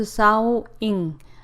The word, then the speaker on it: Xiaoying: Wang Xiaoying, pronounced Xiaoying, lives in a rural area of China's Yunnan province.